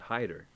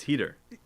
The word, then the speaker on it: Hyder: They still mispronounce it. They say Clyde Hyder. It's Heater, right? But whatever.